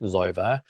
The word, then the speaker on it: Xova: So I want to suggest to you, if you're setting up self-custody wallets, MetaMask, Zova, first set it up on your phone, go into your app store. So Zova is spelled Xova, MetaMask is spelled Metamask.